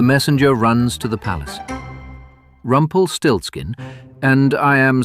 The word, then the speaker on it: Rumpelstiltskin: Rumpelstiltskin, and I am spelling this for the record. R U M P E L S T I L T S K I N. 15 letters, four syllables, zero aliases.